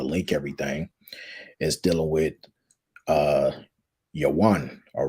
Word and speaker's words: Javan: everything is dealing with Yawan, all right, or Javan, but it's actually pronounced Yawan, all right, which when